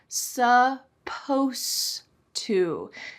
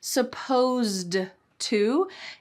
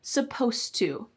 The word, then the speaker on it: supposed to: Supposed to. It's not supposed to. Instead, we kind of cut off that ed and just say supposed to.